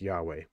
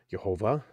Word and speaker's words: Yahweh: That's Yahweh. Or it's Y-H-W-H. You can pronounce it any way you want. You can pronounce it Jehovah. Or you can pronounce it Yahweh. It doesn't matter.